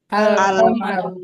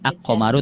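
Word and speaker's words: الْقَمَرُ: Tidak dibaca aqomaru tapi alqamaru. Tidak dibaca ajamalu tapi dibaca al jamal.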